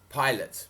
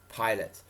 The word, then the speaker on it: Pilate: took jesus to pilate pilate oh sorry pronunciation was off there pilate the roman governor are